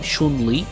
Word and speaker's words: Chun-Li: I think this is how you're supposed to say her name, Chun-Li. That is the correct pronunciation.